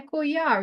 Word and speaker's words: collar: Now you will hear collar, you will hear a Y sound, which comes from the double L.